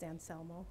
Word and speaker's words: Anselmo: welcome good evening um the correct pronunciation of my last name is anselmo thank you um i